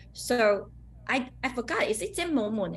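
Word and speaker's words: 精武門: This one will pronounce like Jing Mo Moon.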